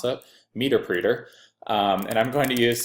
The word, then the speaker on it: Meterpreter: I'm going to use the Windows x64 interpreter, or meterpreter, as a client pointed out to me, they pronounce it, meterpreter.